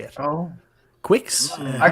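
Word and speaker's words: Qix: pre-order for I I'm GNA say it wrong kicks Quicks how do you say it oh Quicks I call it Qui I call Qui Qui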